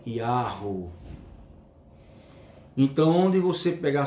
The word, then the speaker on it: Yahweh: que está lá as 4 letras hebraicas, Yod, He, Vav, He, que a sua pronúncia é Yahweh.